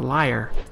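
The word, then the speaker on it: lyre: always say the wrong pronounce that the wrong way from what I understand that's a liar l y r e oh I got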